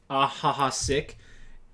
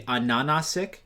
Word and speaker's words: Ananasik: when I learned that Ahaha Sick, their name is actually Ananasik, and like H's in Russian are pronounced as N's or something like that.